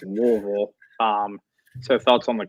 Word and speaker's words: Louisville: that you like is um I'm going to pronounce it correctly. I get the flame in my throat here, but it's Louisville.